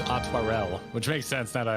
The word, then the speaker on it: Aymeric: That I'm was saying Artorial, but it's Atwarel, which makes sense now that I really look at how it's spelt.